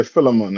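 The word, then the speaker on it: Philemon: the book of Phil how you pronounce this other one I'm used to say Fon is it filon I said yeah filon I just what you said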